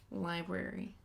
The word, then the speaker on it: library: can add you can you can pronounce that R and what about Liberty what Liberty that's not a word sure just don't guess like me that's not a word library library that would be